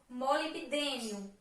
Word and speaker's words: molibdênio: Temos aqui o molibdênio. O molibdênio é consumido em pequena quantidade. Molibdênio. O B é mudo.